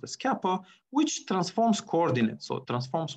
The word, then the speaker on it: Kappa: and bjective function the Kappa so this pronoun pronounced as Kappa which transforms coordinates so transforms one coordinate right